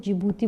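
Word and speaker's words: Djibouti: है ठीक है इसमें जिबूती में क्या जे जो होता है ना वो साइलेंट होता है ठीक है इसको जिबूती बोलते हैं तो सोमालिया एरिट्रिया इथियोपिया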